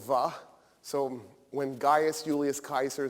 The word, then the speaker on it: Caesar: there was no wha so when Gaius Julius Kaiser said veni vidi vici he didn't say that